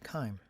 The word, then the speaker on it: chyme: I believe it has a Greek origin, and that's why it's pronounced chyme.